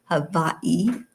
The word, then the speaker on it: Hawaii: So, I'm really really thrilled to be coming to you from Hawaii or Havi as it really is pronounced.